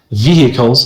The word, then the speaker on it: vehicles: In British English, you might hear this word vehicles. Vehicles. But in American English, you say vehicles. You pronounce the word like there are no hes there. There's no h there.